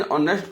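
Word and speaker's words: honest: उसी प्रकार एन ऑनेस्ट भी बोलेंगे। एन ऑनेस्ट बॉय, ऑनेस्ट भी एच उसका बिगिनिंग एच में होते हुए भी ये भावेल का प्रोनाउंसिएशन होता है और भावेल से इसका प्रोनाउंसिएशन स्टार्ट होता है।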